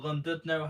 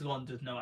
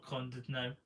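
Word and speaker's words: Llandudno: had Conway Castle and Condudno, or Londudno, how you want to pronounce it. I think it's Londudno actually, not Condudno, Londudno.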